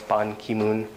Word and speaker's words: Ban Ki-moon: uh hillary clinton um names have the family name stressed so family name if it's first like pon ki-moon the family name is dress ban ki-moon abbreviations have the main